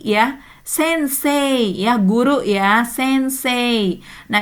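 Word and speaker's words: 先生: sensei ya guru ya sense nah ini tidak dibaca sensei ya i ya tidak dibaca jelas tetapi menjadi e. Hmm, ini menarik juga ya. Sensei ee tulisannya tetapi dibacanya sense ni sense sense gakse tokisnya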